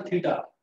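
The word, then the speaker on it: θ: Unknown angle को generally थीटा मान लेते हैं। थीटा ये जो लिखा हुआ है इसको हम बोलते हैं THETA, ये इसका प्रोनाउंसिएशन है थीटा, थीटा बोलते हैं इसको।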